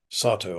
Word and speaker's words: Satow: Sato, I should say. Sorry, I think I slightly mispronounced.